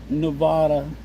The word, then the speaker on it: Nevada: Nevada is spelled like Nevada, the state, but Missouri we we pronounce it Nevada.